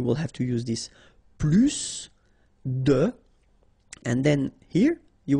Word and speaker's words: plus: I will be um there is a strange thing in French language with this plus okay because in some cases you will have to pronounce the final s and in other cases